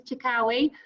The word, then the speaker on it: Chikawi: I did check how to say that, and that is the correct pronunciation. So Miss Chikawi in French, Mr.